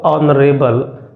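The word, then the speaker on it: honourable: हुआ है ए बट इसका जो प्रोनाउंसिएशन होगा वो होगा ऑनरेबल तो ऑनरेबल है तो इसका मतलब है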